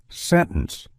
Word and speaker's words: sentence: winter, internet, and sentence, the T often gets dropped entirely in casual speech. So instead of fully articulating the T, we commonly pronounce it as sentence, winter, international, internet, with the T mostly omitted.